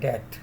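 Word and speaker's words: debt: and rest is द डेट इसको डेट पढ़ना है डीटी डेट जैसे डिटरमिनेट के लिए हम डीटी यूज करते हैं यह भी बी इसमें साइलेंट है फाइंड द अमाउंट ऑफ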